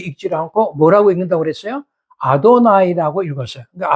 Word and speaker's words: 아도나이: 글이 나올 때마다 그들은 예호바 그렇게 읽지 않고 뭐라고 읽는다고 그랬어요 아도나이 아고 읽었어요 그까 아도나이 그은 분명히 여호와데 아도나이 아도나이 이렇게 읽어 나왔거든